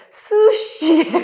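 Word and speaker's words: 寿司: 근데 그 발음이 우리는 스시라고 하던데 걔네들은 영어권 애들 수시에 가깝게 읽대요. 예, 수시 이렇게 하던데 초밥에 스시다 보니까 이제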